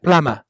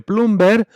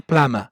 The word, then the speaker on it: plumber: Mira, plama, ¿sí? Fontanero se escribe plumber, pero se pronuncia plama.